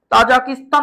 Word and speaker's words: তাজিকিস্তান: Soviet union ভেঙে রাষ্ট্র হয়েছে তুর্কমেনিস্তান, তাজাকিস্তান বা তাজিকিস্তান এটা কোন ব্যাপার না। এটাও হয় ওটাও হয়।